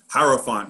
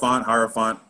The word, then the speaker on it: Hierophant: Am I even pronouncing that right? Hierophant. Yeah, Hierophant.